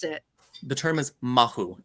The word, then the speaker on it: mahu: know can you say the word I always mispronounce it the term is mahu m-a-h-u mahu right right and there is a huge